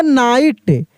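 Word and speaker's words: knight: आपको बता दें कि के जो है ना यह साइलेंट है। के क्या है? यह साइलेंट है यानी इसका उच्चारण नहीं होगा। इसको हम लोग पढ़ेंगे नाइट।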